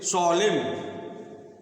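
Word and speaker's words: solemn: तो इसे बहुत से सलेम सलम सलम मतलब क्या होता है सल सोलम इसमें भी न का उच्चारण नहीं होता सोलम कहा आया है आप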